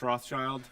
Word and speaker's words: Rothschild: elders, um, Josh Rothschild. I'm always afraid when I say his last name that I'm going to say like Roth. It's child. So you do pronounce the S.